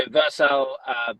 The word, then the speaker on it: Vercel: So Faith actually asked, would you recommend Vercel? Is that how I pronounce it properly? Yeah, Vercel. So Vercel, build Next.